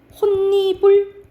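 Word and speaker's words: 홑이불: 이거는 어떤 현상이 일어나냐 먼저 음절의 끝소리 적용이 돼요 그래서 호 이렇게 발음이 나 호 이렇게 발음이 나 근데 앞에 받침 있죠 그다음이가 왔지 그러면 니은이 첨가가 돼 그러면 니 부리가 돼요 그죠 근데 어 디귿이 니은이 만났다 그러면 비마 일어나서 결과적으로 어떻게 발음 나냐 혼니불 이렇게 발음이 나는 거야 그래서 여기서는 어떻게 일어나는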